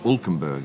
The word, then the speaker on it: Hülkenberg: Other stuff from the weekend, Nico Hülkenberg, or Hülkenberg if you take the German pronunciation, has not had the